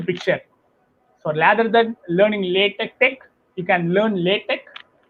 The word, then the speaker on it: LaTeX: So LaTeX, so I understand LaTeX as you lay text. So that is called LaTeX. You lay your text. That's the reason it's called LaTeX.